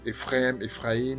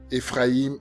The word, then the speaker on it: Éphraïm: Certains l'appellent Ephraim, ça dépend des prononciations. Vous allez savoir plus tard que c'est très important de parler de ces deux, c'est-à-dire de Éphraïm et de Juda.